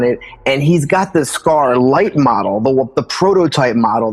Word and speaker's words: SCARlit: his consciousness or shed his consciousness into this SCAR light model. And it's interesting because scar scarlet, my brand is spelled S C A R and then Liit T is smaller letters.